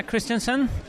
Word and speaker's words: Christenson: so we're here with Christensen is that pronounced correctly yes that's correct I hear a